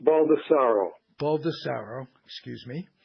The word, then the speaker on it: Baldassaro: new bull ed money I'm tell it's pronounced Baldassare o baldesarra excuse me right and I was a